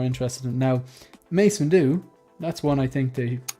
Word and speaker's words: Windu: Well, I heard people say like Mace Window. That's not right.